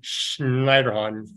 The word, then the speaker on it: Schneiderhahn: He's of German heritage, so I like to say his name Schneiderhahn.